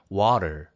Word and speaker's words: water: 예를 들어서 우리가 물이라고 하는 water, water. 이렇게 T가 되게 약하게 거의 R 발음처럼 이렇게 되잖아요. 그렇죠?